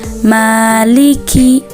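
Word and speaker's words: مالك: Lanjut di ayat keempat, kesalahan yang sering ditemukan yaitu pada huruf kaf. Kaf itu mempunyai sifat hams yang artinya nafas keluar bersama huruf. Bagaimana cara bacanya? Seperti ini ya. Maliki yaumiddin. Maliki. Seperti itu ya.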